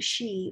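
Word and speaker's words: sídhe: the fairy man's are also called she but it's spelt s-i-d-h-e the sheer the the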